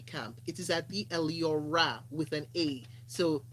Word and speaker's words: Eliora: no uh ransom it is not at the leo ray camp it is at the elio ra with an a so t h e e-l